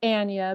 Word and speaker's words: Anya: different with it um okay i'll say it's anya because i like to be the protector of the pronouncing of her name even though she's very